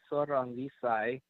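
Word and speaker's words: Sor Rungvisai: Sarisaket Sorangvisai.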